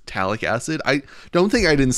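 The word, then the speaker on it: phthalic acid: Don't think I didn't notice my pronunciation of phtalic acid. I saw that comment where the pH is silent, so it's talic acid.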